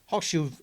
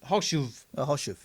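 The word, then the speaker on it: Chorzów: Well, the C is silent in this.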